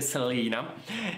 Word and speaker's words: Selena: dice felina poste lena io dico americanamente salina e tanto aprite dario di anche su questa mia pronuncia quindi io dico se li na basta e quindi hanno